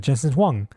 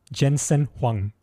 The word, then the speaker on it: Jensen Huang: Maralago with um the CEO of of Nvidia Jensen Wong. Jensen Huang. Sorry, it's a bit hard to pronounce for a westerner.